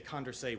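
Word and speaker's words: Condorcet: any election is a condray winner uh which it's a French word so it's not spelled anything like it's pronounced uh that's the candidate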